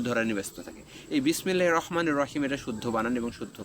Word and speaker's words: বিসমিল্লাহির রহমানির রহিম: তেমনি শুদ্ধ উচ্চারণ হচ্ছে বিসমিল্লাহির রহমানির রহিমের শুদ্ধ উচ্চারণ হচ্ছে বিসমিল্লাহির রহমানির রহিম। বিসমিল্লাহির রহমানির রাহিম হবে না, এটা হচ্ছে অশুদ্ধ উচ্চারণ। রয়ে আকার হবে না, র পুর হবে।